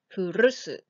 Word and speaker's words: 古す: Those contemptuous and surprising words, how many times do you want to use?As for the highlighted part in brown, please roll your R's like R, furusu.